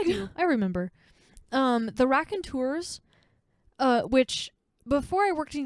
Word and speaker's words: Raconteurs: Raconteurs? Is that how you pronounce it?